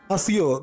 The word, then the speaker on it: Accio: The summoning charm, that is Asio. This is the pronouncing word of this magic.